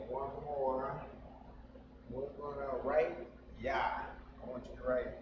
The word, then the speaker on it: Yah: So to pronounce that, that is Yah. Y-A. Just like in our English, Yah. That's how you say Yah in Hebrew.